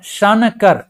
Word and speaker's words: शंकर: इस तरह से शंकर तो जो अनुस्वार का जो है एन का जो साउंड है कहां पर आ रहा है और किसके पहले आ रहा है तो देखिए क से जस्ट पहले न का साउंड आ रहा है लेकिन यह जा कहां